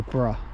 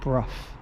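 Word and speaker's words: Brough: You don't You don't say bruh. It's Bruff. So, you actually pronounce the G and H.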